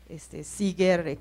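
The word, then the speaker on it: Seager: Entonces planteo una nueva ecuación que sería bueno que por ahí si buscan Seeger, Seeger se escribe S-E-A-G-E-R, Sara Seeger y la ecuación de Drake, seguramente van a encontrar información sobre esta nueva ecuación que ella propone.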